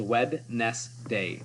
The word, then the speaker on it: Wednesday: Wednesday. The most commonly misspelled day of the week is Wednesday because it doesn't look like it's spelled anything like it sounds. It is Wednesday.